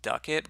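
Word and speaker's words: Ducat: or gains from Dukat apparently it's pronounced duck it but I'm gonna keep pronouncing it Dukat like gold ikot from Star Trek Deep Space 9 quite a good program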